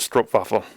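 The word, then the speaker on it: stroopwafel: f f e l I'm I'm assuming it's pronounced stroke faff um so we finished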